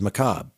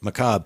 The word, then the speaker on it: macabre: a really tough word there are two ways that i know to pronounce this one is how e.g marshall says it in uh cbs radio mystery theater because he at the beginning of every show says macabre okay so macabre but then i listened